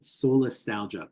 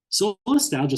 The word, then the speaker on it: solastalgia: Solastalgia sort of sounds like the word nostalgia.